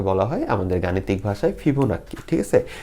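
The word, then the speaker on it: Fibonacci: অনেক জায়গায় ফিবোনাক্সিও বলে, তো আমরা জাস্ট বাঙালি হিসাবে এটারে নাক্কি করি, ওকে? তো এটারে অনেক জায়গায় শুদ্ধ উচ্চারণে ফিবোনাক্সিও বলে, তো আমি ভাই দুঃখিত, আমি ফিবোনাক্কিটাই বলবো, তোমরা নাস্সি বললে তোমরা নাস্সি বললে সমস্যা নেই, ঠিক আছে?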